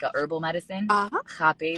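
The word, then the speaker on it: rapé: Rape, they pronounce it like rape, but it's Oh. RAPE Oh. with the the little accent at the end.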